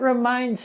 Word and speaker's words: reminds: In the word reminds, we have a Z sound at the end. Reminds, z, reminds.